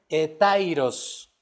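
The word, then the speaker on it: ἑταῖρος: se representa y significa, se pronuncia más bien dicho, etairos.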